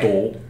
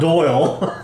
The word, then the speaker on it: Dole: Dole. Dole. Dole. Dole. It's not Doyle. I know. Okay. See, Try again. I'm thinking about it too hard, so my accent's getting in the way.